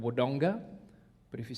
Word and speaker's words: Wodonga: put a lot of emphasis on the second syllable. So there's a place back home called Wodonga, but if you said it like an Aboriginal, it'd be Waranga.